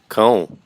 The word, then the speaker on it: cão: And let's hear how to pronounce cow properly. Cão. Cão, that's dog.